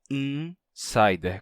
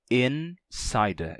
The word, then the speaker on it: insider: Só que quando a gente fala português e pronuncia a palavra insider, então o N termina nasalizando o I que vem antes dele. E a gente pronuncia insider com I nasal. Em inglês não seria assim, ficaria insider.